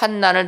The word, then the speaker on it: 환난: 역시나 제가 무식한 거였습니다 그래서 환난이 라고 되어 있는 것은 발음을 환 난 이라고 해야 된다는 거예요 이 무슨 차이가 있을까